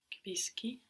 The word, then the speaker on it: capisci: Because when we have SCI or SCE, we get a sh sound.